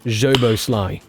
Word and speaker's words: Szoboszlai: Szoboszlai. Nice. So the SZ sound is pronounced just like the letter S in the English word pleasure.